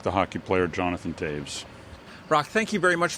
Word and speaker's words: Toews: friends of rocktaves and even though it's pronounced taves it is t-o-e-w-s that's correct yes uh if you're a hockey fan it's like the hockey player jonathan taves brock thank you very